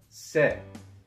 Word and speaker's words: 세: After ha, we have se. And remember that this letter is pronounced eh, not a, so it's not the same as say, it's like set without the T.